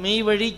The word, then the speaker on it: மெய்வழி: மெய்வழி சாலை அப்படியே சொல்கிறது எப்படி சொல்லணும்? ழி அழிச்சு மெய்வழி சாலை அப்படின்னு சொல்லணும். லை சாலை அப்படின்னாலும் தப்பாக போயிடும். சாலை சாலை.